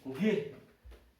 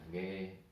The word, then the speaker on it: Nggih: Nggih aja. Ya. Nggih. N, G, Iya. G, Iya. I, H. Kenapa kok NG? Karena kita kan bacanya bukan G.